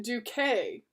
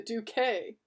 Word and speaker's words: Duque: Pronounced Duque. It's spelled D-U-Q-U-E. I am the Duque. Pronounced Duque, a Spanish duke.